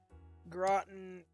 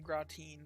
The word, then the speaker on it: gratin: Groten is how pronounced rather than gratine.